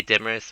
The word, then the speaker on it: Demaris: so his name is demaris which to me is like well it's such a strange name okay demaris well it rhymes with uh everest or that mountain bergen